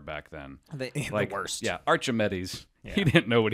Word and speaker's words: Archimedes: So this was a cat by the name of Archimedes, or as I like to say, Archimedes. That's the proper way to pronounce it? Fairly certain it's Archimedes.